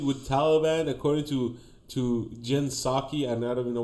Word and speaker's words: Psaki: Now we have to negotiate with Taliban according to Jen Psaki. And I don't even know why the P is silent.